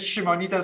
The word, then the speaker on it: Šimonytė: all sorts of pronunciation my surname is shimonita so it's very close to what you said I think we should